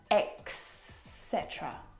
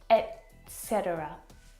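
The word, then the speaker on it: et cetera: actually mess this up as well and they'll pronounce X cetera or X cetera and it should be pronounced etc etc etc or etc if you're like me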